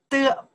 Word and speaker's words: 得: 的, pronounce the 的.